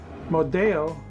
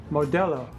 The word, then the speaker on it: Modelo: I used to call it Modelo, but I learned learned We recently learned it is pronounced Modelo.